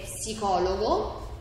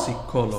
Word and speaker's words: psicologo: Oh, so P is pronounced in the word.